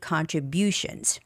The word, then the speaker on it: contribution: belief B and artistic contributions now there are some huge words there artistic the stress goes on I artistic contribution the stress goes on you contributions contributions of ancient